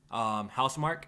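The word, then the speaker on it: Housemarque: This is the game developed by Housemark. That's how you pronounce it, Jack, right? Yes. Housemark?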